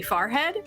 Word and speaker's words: forehead: to point out uh the word f-o-r-e-h-e-a-d i say far head and he's just like okay there's your accent it's right there how is it supposed to be said forehead it's f-o-r-e yeah yeah